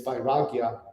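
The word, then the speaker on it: vairāgya: and the word we use in yoga is by ragya it's it's spelled v-a-i -r-a-g-y-a and it's interesting that um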